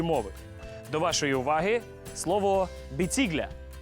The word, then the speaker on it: біцігля: до вашої уваги слово біцігля біцігля або з наголосом на першому складі біцігля потрапила в Закарпаття від